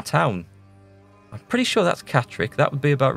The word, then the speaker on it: Catterick: I think that's Catterick. There was a Roman town. I'm pretty sure that's Catterick. That would be about right. Yeah, that's Durham. That's Catterick.